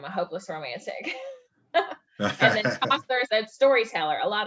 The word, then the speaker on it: Chaucer: Am I pronouncing that correctly? Chaucer?